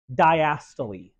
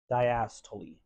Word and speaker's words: diastole: It's a matter of getting the correct rhythm of the word. Diastole. Diastole.